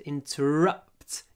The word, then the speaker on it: interrupt: interrupt me don't interrupt the stress is at the end interrupt interrupt but the uh